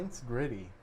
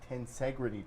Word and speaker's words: Tensegrity: I was pronouncing this thing the Tensegrity until Tensegrity. Tim told me it's the Tensegrity table. It's tension and integrity mixed together.